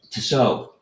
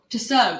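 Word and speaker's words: Tissot: Tiso. Tiso. That's how you say it. So, it's French.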